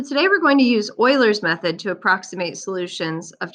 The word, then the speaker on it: Euler: about Oilers method um this is pronounced Oilers not eulers and so just a